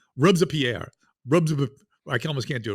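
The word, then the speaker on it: Robespierre: they say it with when they say rer in French they say it in three syllables always rubs a Pierre rub I almost can't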